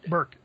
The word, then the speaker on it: Berkeley: Burke.